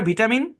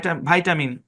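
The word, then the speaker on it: vitamin: ব্যতিক্রম উচ্চারণ যেমন দেখেন এই শব্দটাকে ব্রিটিশরা করে ভিটামিন আমেরিকানরা করে ভাইটামিন তারপর এই শব্দটাকে ব্রিটিশরা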